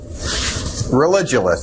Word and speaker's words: Religulous: name of your movie it's Religulous it's like you're staying religion and then you go to ridiculous for obviously well speaking